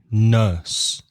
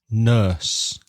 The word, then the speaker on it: nurse: pronounce the e but the final E is silent so the vowel sound is a like turn nurse next word also in